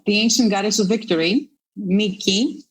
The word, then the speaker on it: Niki: ancient goddess of victory Niki Nike if you prefer a more American pronunciation of the name can you tell us